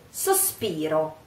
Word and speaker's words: sospiro: I hope, spero, e sospiro, try, sospiro, I sigh. So, cerco te, chiamo te, spero e sospiro, sospiro. Don't cut the O, the final O. Sospiro, same O.